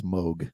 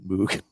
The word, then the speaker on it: Moog: It is Moog. It is not Moog, even though it's spelled Moog.